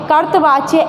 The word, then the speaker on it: कर्तृवाच्य: है वो कर पाएंगे आपको ध्यान रखना है कर्तृवाच्य देखिए ये जो ता के ऊपर है ये रा है ठीक है रा लगा